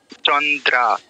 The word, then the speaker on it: চন্দ্রা: দ এর ফলা আকার এটার উচ্চারণ কি চন্দ্রা একদম ঠিক চন্দ্রাত দৃত বললে হবে না ঠিক আছে সুন্দর রয়েছে